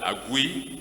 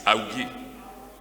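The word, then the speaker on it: Augie: problem in your pronunciation, either Agui or Awigi. I said I will personally ask so that I will get it right. It's Awigi. Excellency, the Governor of Lagos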